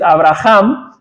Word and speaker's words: Abraham: serás Abraham verdad Bueno en español la pronunciación no cambia mucho porque la H no tiene sonido pero en otros idiomas en inglés es Abraham que porque la H hace esa ese sonido Abraham Qué significa padre de